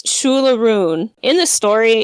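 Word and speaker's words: Siúil a Rúin: But it's Shula Rune. In the story, it's spelled Shule, and then a rune is Aroon,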